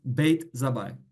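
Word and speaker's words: Bat-Zabbai: In Arabic, Bet Zabi, pronounced Beit Zabai.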